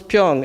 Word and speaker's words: 병: Pyong. Okay. Is that right? Yep. The word for bottle is pyong in Korean.